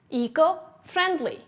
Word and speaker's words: eco-friendly: eco-friendly repeat after me eco-friendly how do you spell it e c o f r i e n d l y where's the stress eco-friendly yes it's on the first and first syllable what part of speech